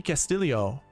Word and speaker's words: Castillo: Ricky Castillo. That one I don't mind. Fleetwood, Connor, Scott, Jaeger, Hughes, Castillo. You're wondering why I pronounced it that way. Apparently that's how he wants it pronounced.